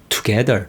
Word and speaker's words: together: 근데 together 이 발음에서 강세는 to에 오는 게 아니라 뒤에 있는 G에 갑니다. 그렇기 때문에 이 앞에 있는 to는 그렇게 세게 발음을 안 하고 빨리 이야기하다 보니까 자기도 모르게 그냥 together이 되는 거예요.